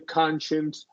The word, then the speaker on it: conscience: I'm getting a conscience.